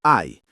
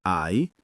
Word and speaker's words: hai: L'h in italiano è sempre muta, quindi io ho si pronuncia io o tu hai si pronuncia tu ai. Ripetete con noi, cari ascoltatori. Io ho, tu ai, lui ha, lei ha,